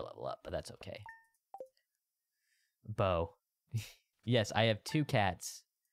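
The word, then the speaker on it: Beau: Bo. Yes, I have two cats. That was my old name. No, but it's spelled B-E-A-U.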